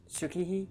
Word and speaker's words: Tsukihi: I like the one he had with Tsutsuki. Is that how you say it? Yeah. Yeah. Wait, Tsukihi?